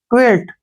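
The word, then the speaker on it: quilt: टी ठीक है ना क्याय का उच्चारण हमेशा हम क्वी करते हैं ऐसे क्वी ठीक है ना क् यहां से यहां तक हो गया क्या यू आई को हम क् पढ़ेंगे और एल का उच्चारण ल होगा और टी का उच्चारण ट होगा क्वेट क्या पढ़ेंगे इसको क्वेट क्वेट होता है रजाई जो अक्सर आजकल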